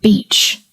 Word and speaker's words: beach: Of course, he meant beach.